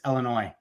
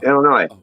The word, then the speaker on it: Illinois: that's the monk wood the S is silent it's Illinois oh Illinois Illinois Illinois better known